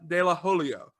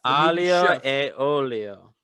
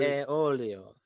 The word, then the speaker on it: aglio e olio: We were going to make pasta dell'olio. I believe that is how you pronounce it, but it's probably not. And it's from Chef. Aglio e olio.